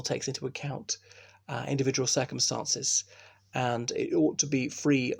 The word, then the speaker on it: v: I know that V stands for versus, which is the Latin word for against, but in Commonwealth countries, you say M and Home Office, or you could say M against Home Office.